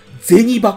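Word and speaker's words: 銭函: ゼニバコと読むんですね、これ。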